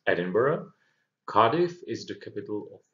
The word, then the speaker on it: Edinburgh: of scotland and be careful about the pronunciation pronunciation here it's edinburgh cardiff is the capital of wales and belfast